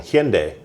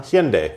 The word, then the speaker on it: Hyundai: And it feels like Hyundai did that.